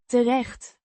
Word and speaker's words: terecht: terecht. Means up or in the end. In this context, pronounced Terecht. the Het is lightly pronounced and the ch. sound is a guttural sound.